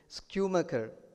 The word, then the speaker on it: Schumacher: His name is Schumacher. S-C-H-U-M-A-C-H-E-R, and it's difficult to pronounce any.